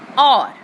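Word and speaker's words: hour: For example, a word is or. Spells are H-O-U-R, but the sound will be or. That's why we are adding and with this word, so it will become an or. Here H is silent.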